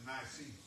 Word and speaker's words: Nicene: That word is Nicene. Huh? Nicene. Nicene? Thank you, Brother Charles. That's N-I-C-E-N-E.